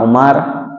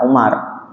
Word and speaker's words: Umar: Ada yang membacanya Umar, ada yang membacanya Umair. Kalau di kitab hadis, kitab Syama'il Nabi yang dikarang oleh Imam Tirmizi, kitab yang kami pegang itu bacanya Umar. Tapi kalau kita buka syarahnya, kitab yang dikarang oleh Syekh Ibrahim bin Muhammad Al-Bajuri, beliau menggunakan kata-kata Umair. Sama, boleh seperti itu.